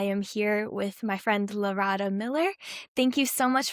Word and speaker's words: Larada: The way that I tell people to know it is think of Laredo, Texas, and then just put an A on the end of it.